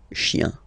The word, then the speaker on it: chiens: Okay, remember, chien, singular form, chien, same pronunciation, but you put this s. Okay, final s, not pronounced.